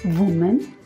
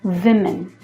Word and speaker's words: women: Woman? No, women.